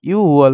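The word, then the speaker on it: 유월: আর শিব মানে 10 এই দুইটা ক্ষেত্রে মাস গণনার ক্ষেত্রে নিচের বাচ্চিম দুইটা হয় না ইউকের ইউকের আপনার গিয়কটা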